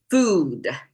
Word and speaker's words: food: to figure out how to pronounce foot, foot versus food. This both are double O's in there, but one is shorter, one is longer.